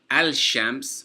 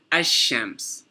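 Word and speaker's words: الشمس: So for example, ash-shams. You see, we didn't pronounce the lam. We didn't say al-shams, we said ash-shams.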